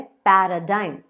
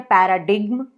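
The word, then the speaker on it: paradigm: अगला वर्ड मेरे पास जो है वो है पैराडाइम, पैराडाइम। अब कई लोग इसे पढ़ते हैं पैराडिग्म, जो कि बिल्कुल बिल्कुल गलत है, तो आप इसे पढ़िए पैराडाइम।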